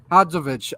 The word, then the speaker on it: Hadzovic: Hadzovic.